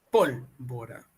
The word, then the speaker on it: pólvora: no es esta acá pólvora es una esdrújula pólvora examen es una grave